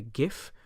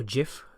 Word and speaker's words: GIF: note your location and other things like a gif or Jif if it's there the way you pronounce it here I'm just showing you you